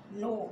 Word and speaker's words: know: Forget miss भूलना, और second form है फॉर गॉड, FORGOT, और थर्ड फॉर्म है FORGOTTEN, फॉरगॉटन, KNOW, नो। इसको, इसमें के साइलेंट होता है, इसको नो बोलते हैं।